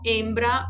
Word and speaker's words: hembra: O H, ele não tem sonido alguno, não se aspira, não se pronuncia. Então, olho, hembra, hombre.